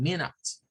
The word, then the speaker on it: minutes: Bueno, Luego hay otra observación, nos dice, algunos casos el sonido schwa se dice como una I corta, como una E corta, por ejemplo en la palabra minutes. Aunque la U es la sílaba atonada, ¿verdad? Que no está acentuada, pues vemos ahí que suena en minutes.